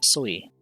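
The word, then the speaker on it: 水: The reading changes and the water is pronounced sui.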